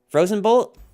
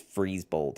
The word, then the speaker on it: Freeze Bold: look like very similar Frozen bolt or I'm sorry I keep saying Frozen bolt your name is freeze bold I'm sorry for saying